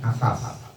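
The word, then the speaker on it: عفاف: Nah, itu namanya afaf. Ai artinya al-imtina'u, menahan diri. Loncat ya bacanya ya. Bifathil ain, dengan menfathahkan huruf ain, jadi bacanya afaf. Ainnya di fathah.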